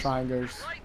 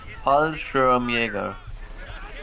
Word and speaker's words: Fallschirmjäger: How do you pronounce what? Volksgrenadiers. Yeah, Volksgrenadiers. Fallschreigers. The Fallschreiger. What? Fallschreiger? Fallschirmjäger.